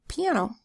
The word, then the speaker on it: piano: The I makes a long E sound, E. P, an. Second syllable, an. That's a closed syllable, so the A makes a short sound, a. And last syllable, O. So the O stands all by itself in an open syllable where it's making its long O sound, O. P-N-O, piano.